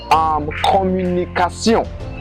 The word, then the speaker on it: communication: But it is pronounced in French as sion. Sion. Like communication. Communication. You see, it is pronounced as sion.